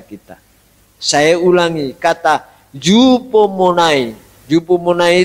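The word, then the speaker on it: ὑπομονή: Yupomonai itu Hoopone. Tapi membacanya yupomonai, bahasa Yunani, bahasa Greka.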